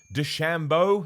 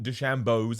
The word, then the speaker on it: DeChambeau: I care about it because I think it's pronounced Bryson Dechambeau.